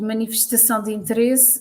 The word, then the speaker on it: Manifestação de Interesse: know, Gilda, and to help with my terrible pronunciation? It's called Manifestação de Interesse.